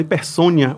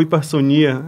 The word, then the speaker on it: hipersonia: Isso também é um transtorno, é chamado hipersônia ou hipersonia. Aí depende de da da pronúncia de cada um, mas a hipersônia é